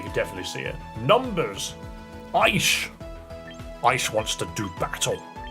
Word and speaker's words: Aish: Aish! Aish wants to do battle. My name is Aish, I don't know why. Because that's what you typed. I'm ready. It's pronounced Ash.